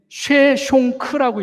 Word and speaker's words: 쉐숑크: 근데 이 시삭이 영어로는 이렇게 보면 시삭이라고 읽을 수 있는데, 이게 이집트어로다가 읽으면 이게 쉐숑크라고 읽어요. 쉐숑크.